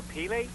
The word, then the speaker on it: Pele: Now, see if I pronounce this right, Tori. Boys for Pele? Boys for Pele, yes.